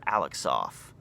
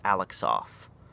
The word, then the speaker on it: Alexov: So enters a fellow Bulgarian named Peter Alexov, which his last name is spelled Alexsoff. So I'm going with Alexov.